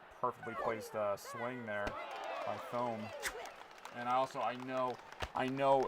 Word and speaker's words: Thome: yeah, I like Jim Thome. And I mean, that is how it's phonetically spelled. There's home, TH makes a sound. Thome made a lot of sense.